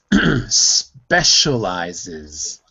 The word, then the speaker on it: specializes: interesting repeat after me specializes it specializes yeah I need to hear the Z specializes specialized this that